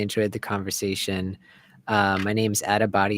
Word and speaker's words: Attabotty: My name's Adabody. It's spelled ATTABOTTY, and it's the same for everything.